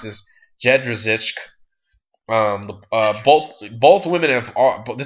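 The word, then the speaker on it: Jędrzejczyk: Claudia Gadella versus Joanna, and let me help you pronounce this, Jedrzejczyk.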